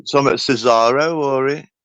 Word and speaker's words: Cesar: go he was the it's Cesar isn't it Cesar that's how it's pronounced strange enough Cesar ROM AA is the